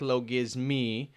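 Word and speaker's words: logismoi: audience correct me that it is in fact low gizmi despite the oi ending uh due to the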